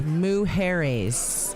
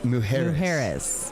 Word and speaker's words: Mujeres: Well, pronunciation error, Miss Beth Travers said it's Mujeres. Mujeres.